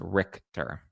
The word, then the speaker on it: Richter: Richter, it's pronounced Richter.